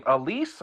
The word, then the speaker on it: Aleese: of her books and how do you say your name Alise or is that how you say it yes most people don't say it right so I wouldn't have